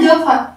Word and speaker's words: dauphin: Ça, c'est un dauphin. C'est un poisson très, très, très gentil. Dauphin. D-A-U, do. Fin. P-H-I-N, fin.